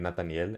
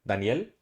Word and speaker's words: Nathaniel: one but um like y'all try to say Nathaniel bro I'll be like Nathaniel and they'll be like Daniel I'm like no come on no I know so it's full it's Nathaniel yeah you know I